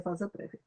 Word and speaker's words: vasa prévia: prévia, e se escreve vasa prévia, mas a pronúncia é vasa prévia.